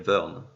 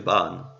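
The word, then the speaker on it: Vearn: le dieu du H normalement il s'appelle Vern V e a R n et donc c'est vrai que prononcé à japonais ça fait ban il avait traduit ban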